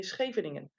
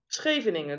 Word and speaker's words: Scheveningen: The SH, or the CH, is pronounced with a G.